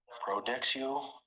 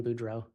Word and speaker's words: Boudreaux: Detective, you recently testified about finding a large amount of credit cards for Brandon Boudreaux. Yes. I believe there you may have mispronounced his name.